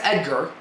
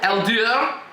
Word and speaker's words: Eldar: Okay, that's Edgar. No, it's not. Eldar. Okay.